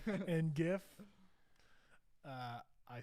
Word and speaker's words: gif: so actually melissa said i say the g in gif like god i messed up i say the g and gif like god so gif golf you guys are still saying and gif uh i say goff